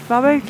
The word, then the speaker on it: Varberg: How do you pronounce it? Varberg?